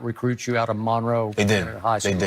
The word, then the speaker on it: Monroe: more North Central Louisiana Monroe right that's how you say it Monroe cuz when I was there I thought it Monroe but they say Monro right Monro Monro so when